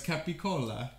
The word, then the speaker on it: capicola: how to pronounce it i wasn't sure if it was cappy cola or capicola and so i didn't order it because i was a paris i would mispronounce it true story anyway so it's capicola no arbitrary and this